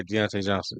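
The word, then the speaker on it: Diontae Johnson: see um did I say it right the Deontay Johnson oh deont yeah Deontay Johnson yeah yeah put him in the lineup on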